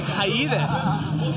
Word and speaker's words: Jaide: It's almost like Haide. That's what Rudy Sarzo said. That's how Rudy Sarzo pronounces my name.